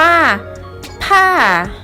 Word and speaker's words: ถ้า: ที่ 8 คำ ที่ 8 จะ ประกอบ ไป ด้วย พอ อาญา บวก เสียง วรรณยุกต์ ที่ 4 เสียง วรรณยุกต์ ที่ 4 คือ เสียง ไมค์ โทร นั่น เอง ค่ะ คำ นี้ จะ อ่าน ว่า ถ้า ถ้า ถ้า นัก เรียน